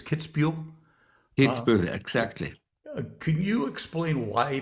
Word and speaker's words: Kitzbühel: And I hope I don't butcher the pronunciation of the town. It's Kitzbühel? Kitzbühel, exactly.